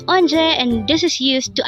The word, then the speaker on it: 언제: this is used to ask when again it's anje and this is used to ask about date